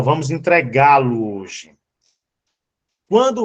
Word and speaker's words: entregá-lo: Observe que o verbo entregá-lo hoje, entregá-lo, observe que o G tem um acento. Por quê? Porque, se você perceber, ó, entregar, a sílaba mais forte é o G. Ela é uma oxítona.